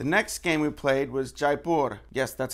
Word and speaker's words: Jaipur: I'm like no it's not that you say Jai purr it kind of sounds like diaper so I looked it up the official pronunciation is Jaipur Jaipur is a city in